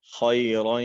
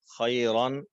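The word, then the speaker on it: خیرًا: خیرا یرا، خیرن، خیرا، یہ جو الف ہے درمیان میں، اس کو ہجے کے دوران نہیں پڑھا جائے گا، البتہ اگر وقف کرنا ہو تو پھر خیرن سے خیرا، 2 زبر کی تنوین وقف کی حالت میں الف سے بدل جائے گی۔ اسی طرح یاراہو الٹا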